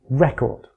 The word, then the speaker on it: record: syllable is stressed in record stressing the first syllable gives us the noun record where we're stressing the second gives us the